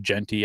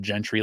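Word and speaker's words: Jeanty: Obviously the guy Ashton how you say it, Genty. I said Gentry last Wednesday, and somebody gave me shit in the chat box, whatever.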